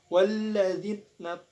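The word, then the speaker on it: والذين: Dan cara membacanya adalah alif lamnya tidak dibaca akan tapi langsung dimasukkan dengan huruf la. Jadi cara bacanya walla. Jadi huruf alifnya hilang. Walladzina tahazu.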